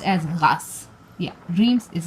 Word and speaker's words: Reims: the RS Cathedral what do you know it's pronounced as gas yeah RS is gas somebody's very French now it's a Roman Catholic